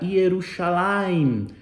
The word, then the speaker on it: Jerusalém: do antigo do testamento a forma de se pronunciar era ierusalim ierusalim com iud também recebe ali um i aí ficou um um J Melhor dizendo aí ficou Jerusalém E aí nós temos